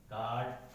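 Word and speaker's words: guard: के बाद आता है, अगर यू किसी वर्ड में जी के बाद आता है तो जो यू है वो क्या हो जाएगा साइलेंट हो जाएगा। जैसे एग्जांपल देखिए आप, गाइड, गेस्ट, गार्ड, ठीक है, बॉट, ला।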